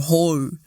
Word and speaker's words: hou: It's O, not au.